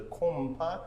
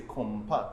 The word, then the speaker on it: konpa: But yet, unless you're native to the island, kompa is going to be hard for you to pronounce. Yes. So the nasal sound sets us apart.